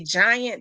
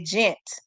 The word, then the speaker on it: giant: Like my aunties and them didn't know how to say giant. They used to say gent. We call it gent fish.